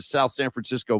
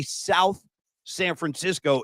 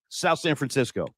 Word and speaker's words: South San Francisco: They were saying, don't say South San Francisco. It's one word, and don't pronounce the TH. South San Francisco.